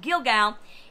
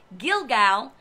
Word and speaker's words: Gilgal: It just sounds exactly like I pronounced it. Gilgal. It means a wheel that is rolling away. It is the same of this particular word that sounds exactly very similar. Gilgal.